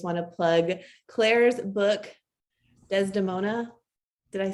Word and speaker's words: Desdemona: And of course, also just want to plug Claire's book, Desdemona.